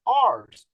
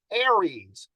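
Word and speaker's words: ARES: now a lot of people might say oh ours no aries we can't read here in radio very well or pronounce things but that's the way it is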